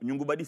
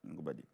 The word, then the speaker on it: Ngoungoubadi: Autant que vous vous souveniez de comment on prononce mon nom. Nyongubadi, c'est moi, pour ceux qui ne savent pas. Nyongubadi.